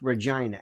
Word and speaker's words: Regina: But I think it's pronounced Regina.